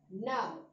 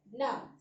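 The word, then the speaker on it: gnaw: The next word, now. Here also G is silent. We pronounce it as now.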